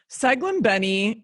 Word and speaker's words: Saglimbeni: Saglimbeni is how you say it.